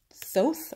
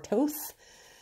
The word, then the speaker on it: Thoth: It would be the Rider-Waite, the Tarot of Marseille, and the Thoth deck, which many people believe the proper pronunciation is Thoth or Toth. But I've been saying toss along.